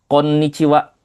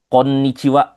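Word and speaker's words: こんにちは: Oke, di sini sense nulis ada dua nih. Kok gitu sih, Sensei? Ada yang pakai N ekstra huruf N ya, ada yang langsung konwa. Ini sama-sama benar ya, Minasang ya, enggak jadi masalah karena memang ee sepanjang sense belajar bahasa Jepang, sense sering mendengar yang seperti itu.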